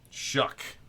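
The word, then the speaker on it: Shough: Shook.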